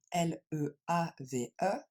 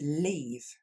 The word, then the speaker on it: leave: Il faudra bien faire la différence ici parce qu'on a le verbe partir qui s'écrit lui L-E-A-V-E, qui va se prononcer comme un i long. To leave.